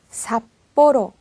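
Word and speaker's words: 札幌: 피카츄 피처럼 소리가 나죠 그리고 이렇게 어 중에 왔을 때는요 삽 뽀로 사뽀로 약간 된 소리로 나죠 자 이렇게 해 주시면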